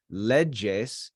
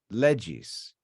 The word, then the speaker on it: legis: Le Jayo it's Lego it's not leges it's legis all right so that's